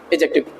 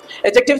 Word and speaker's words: adjective: इसमें डी थोड़ा साइलेंट रहती है बोलने पे, लिखने पे नहीं करना नहीं तो गड़बड़ हो जाएगी। लिखने पे डी रहती है बट बोलने पे एडजेक्टिव बोला जाता है। क्या बोला, देखो एडजेक्टिव पढ़ो फिर एडजेक्टिव बोलो। हाँ, तो डी साइलेंट रहती है, उस हिसाब से ध्यान रखना।